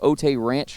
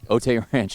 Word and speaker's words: Otay Ranch: of 2020 out of OT Ranch High School in California am I pronouncing that correctly uh OT Ranch Otay Ranch okay so uh tell